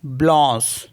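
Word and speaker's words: blanche: एन सी एच ई तो इसको पढ़ते हैं ब्लस क्योंकि ए एन को ओ करके पढ़ता है ना तो ब्लस हो गया ब्लस मींस होता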